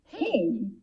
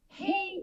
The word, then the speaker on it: Hej: Hey. Hey is the Swedish way of saying hi. It's quite similar to English, just that we spell it a little bit different, with a J instead of a Y.